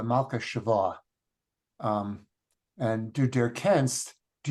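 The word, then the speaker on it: מלכּת־שבֿא: It took me a while to figure out, but it's Malka Shava, the Queen of Sheba, Malka Shava.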